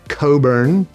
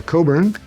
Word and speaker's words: Cockburn: It's a Scottish name, and the CK is not pronounced, so it's Cockburn.